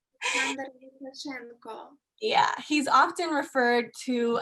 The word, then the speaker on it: Lukashenko: Alexander Lukashenko.